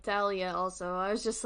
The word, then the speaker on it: Thalia: I call her Talia, I'm pretty sure it's Thalia. Yep. Thalia Grace. We're gonna call her Thalia because that's what I think her name is pronounced.